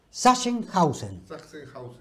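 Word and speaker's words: Sachsenhausen: el campo concentración deusen está mal dicho mal dicho es senen hausen así se dice el Alemán que también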